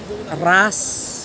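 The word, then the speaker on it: wrasse: Bossing nung isdang ito ras w ah silent w r a s h ras yun ang tawag sa isdang ito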